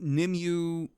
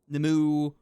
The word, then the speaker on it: Nimue: Nimue. I believe that is how it's pronounced, too. Oh, let me double check. I actually have a Google page open, so I remember how to pronounce it. Yeah, Nimue, that's it. Also, Nimue, Nimue, stuff like that. There's different ways to pronounce her name. I like Nimue because that's more fun to say.